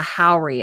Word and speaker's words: haori: kimono over top, and it is called a haori.